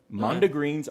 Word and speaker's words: mondegreens: It's called mondegreens. Mondegreens are officially words from misheard lyrics. How do you spell that? M-O-N-D-E, like monde, like the French word, and then E-G-R-E-E-N-S, mondegreens.